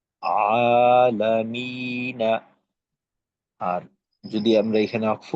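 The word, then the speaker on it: العالمين: মাদের হরফের বামে ওয়াকফ হইলে এটাকে মাদ্দে আরজি বলে, তিন আলিফ টেনে পড়তে হয়, তখন উচ্চারণটা হবে আলামিন, আলহামদু লিল্লাহি রব্বিল আলামিন।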